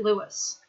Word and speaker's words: Louis: Louis is sending the file. The file is being sent by Louis. You can also pronounce it Louis.